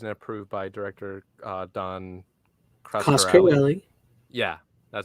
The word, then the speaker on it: Coscarelli: The color correction supervised and approved by director Don Coscarelli.